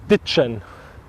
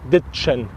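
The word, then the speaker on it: ditschen: So it's spelled D-I-T-S-C-H-E-N, and it's pronounced ditchen. Das ist ein ganz spezielles sächsisches Wort. With D at the beginning and an N, not a M, but the other one, N. So ditchen.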